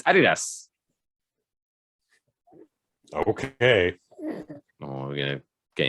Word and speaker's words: Adidas: Adidas. That's how you pronounce it. Adidas.